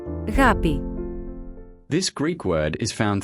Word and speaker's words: ἀγάπη: This is how this word is pronounced. Αγάπη.